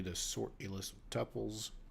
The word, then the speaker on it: tuples: sort a list of tuples my dad pronounces it tupes by the way tupes tuples tupes to me tomato um let me start